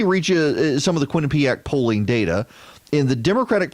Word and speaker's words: Quinnipiac: I love that they do the pronunciation guide. Kwin, Quinn, Uheapac, ACK, Quinnipiac, the Quinnipiac University National Poll.